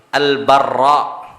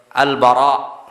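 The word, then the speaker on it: البراء: Syuf, dulu santri itu bacanya Al-Barra, as-sahih Al-Bara, anil Bara ibn Azib qal kana Rasulullah sallallahu alaihi wasallam marbu'an, Rasul Allah orang yang ideal, tengah-tengah.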